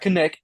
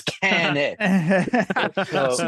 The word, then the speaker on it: Kanik: name wrong she's like no it's not kenck it's can I love it is she